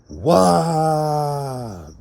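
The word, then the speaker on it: ו: The sixth letter in the Hebrew is the Wah. W-A-W-W-A or W-A-H is still phonetically Wah.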